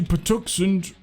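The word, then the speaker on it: Patuxent: The statement also then goes on to say, quote, "The move to Puxen, I think that's how you pronounce it, river follows a series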